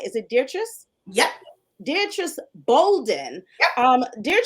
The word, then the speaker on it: Dietrice: uh I just want to make sure I'm pronouncing your name right is it dear trust yep Beatrice Bolden um dear just has such